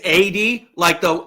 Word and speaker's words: Addie: It's 80, 80. Okay. Think of the number 80 but put a D in it, and his I got name's Adrian.